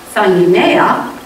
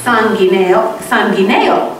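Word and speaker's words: sanguínea: that instead of saying the Spanish word for blood pressure, which is sanguinea, ends in the letter A, and has the emphasis on the middle syllable, he had said sanguineo, with the emphasis on the next to the last syllable, and the letter O instead of A at the end of the word.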